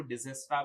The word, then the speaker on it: Dijkstra: First one इज अ डाइजेस्ट्रास algorithm, जिसको डिजेस्ट्रा भी pronunciation किया जाता है.